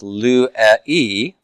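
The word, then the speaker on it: λύει: And now I'm going to be left with lu-e, and all of that will combine to form lue. Lue. Okay, so I get a diphthong out of it, the epsilon iota, lue. 2 syllables, right?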